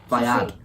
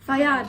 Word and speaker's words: Fayed: Fayad. Fayad, there you go.